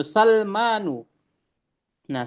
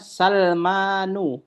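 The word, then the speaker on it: سَلْمَانُ: Lalu juga Sulaimanu, Salmanu. Nah, Salmanu juga tidak boleh ee pakai alif lam eh tidak boleh pakai tanwin ya, Teman-teman ya. Afwan. Jadi dibacanya Salmanu bukan Salmanun.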